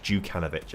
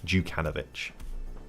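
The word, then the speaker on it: Đukanović: But D with a line in it is pronounced as J. So it's more like Janovic. Jukanovic. Okay, I'll remember that. Jukanovic.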